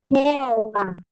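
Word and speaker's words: Jehová: É com H. Tem H aqui no meio. Mas como H, ele muda, não tem problema. Mas então, como se pronuncia o nome de Deus em espanhol? Jeová. Jeová. Isso. Jeová.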